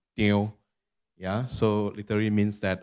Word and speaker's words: Teo: Teo is a Hokkien dialect, which pronounced in Teo.